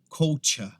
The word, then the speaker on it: culture: Essa aqui, se você tiver o sotaque britânico, vai ser culture. Se você tiver o sotaque americano, vai ser culture, tá? Mas essa aqui a gente não pronuncia culture, que é o que acontece geralmente, tá? A pronúncia certa é culture, tá?